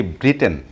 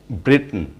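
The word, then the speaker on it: Britain: আমরা এই ওয়ার্ডটির pronunciation করে থাকি ব্রিটেন. ব্রিটেন is the wrong pronunciation. আসলে এটা right pronunciation হবে ব্রিটেন, ব্রিটেন, ব্রিটেন. অর্থাৎ লাস্টে TAIN, টেন না বলে এটার pronunciation হবে টিন, ব্রিটেন, ব্রিটেন, ব্রিটেন.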